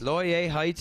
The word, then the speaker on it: Laurier Heights: Ly Heights. L How do you say that? Ly Heights. Laurier Heights in Edmonton, Alberta.